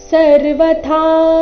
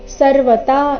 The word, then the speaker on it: ಸರ್ವಥಾ: ಭಜತ್ಯೆ ಭಜತ್ಯೆ ಕತ್ವ ಮಾಸ್ಥಿತಹ ಸರ್ವತಾ ವರ್ತಮಾನೋಪಿ ಸರ್ವತಾ ಇಲ್ಲಿ ಥ ಮಹಾಪ್ರಾಣ ದೀರ್ಘ ಸರ್ವತ ಇಲ್ಲ ಯಾವ ರೀತಿ ಬರಬೇಕು ಸರ್ವತಾ ವರ್ತಮಾನೋಪಿ ಮನೋ ಎರಡು ದೀರ್ಘ